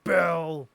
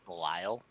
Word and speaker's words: Bel: like Belial. Nope, Bell. Just B-E-L. Bell. Yep.